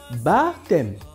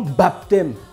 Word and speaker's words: baptême: dire que en prononçant le P ne se prononce pas du coup ça se dit baptême et non baptême j'entends déjà le baptême